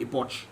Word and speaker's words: Epoch: Right there, of course, from the Epoch. I pronounce it properly.